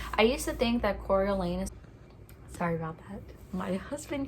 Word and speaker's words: Coriolanus: Anyways, yeah, Coriolanus, not Cornelius. I have to remember that.